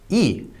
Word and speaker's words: 의: a lot of cases, it's actually not pronounced that way. It'll be said kind of like 이. And sometimes 에. Yeah, sometimes 에, that's true when it's used as the possessive marker.